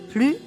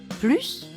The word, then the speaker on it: plus: E par une apostrophe lorsque plus est suivi d'un adjectif on ne prononce pas le S final plus grande on peut comparer